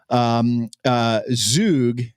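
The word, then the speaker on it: zhug: Zug, it's pronounced Zug sauce, likely originated in Yemen.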